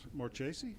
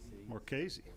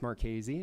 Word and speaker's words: Marchese: searched today mr more chasey am i pronouncing that right more casey all right come on